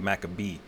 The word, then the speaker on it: Maccabee: But that's how Makwabat, you know, is how you would say it in the Hebrew. But in the Greek, you know, it was, you know, when they translated it back to English, they pronounced it Maccabee. All right, with two C's instead of the Q sound.